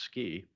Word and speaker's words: SCI: up with the acronym scientific Computing and imaging pronounced ski um uh when we